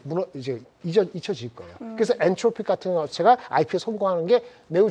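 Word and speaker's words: Anthropic: 엔트로픽 맞죠? 맞아. 누가 발음을 끝까지 누가 엔트로피라 얘기했다 막 그러는데 엔트로픽 엔스로픽 다 맞습니다.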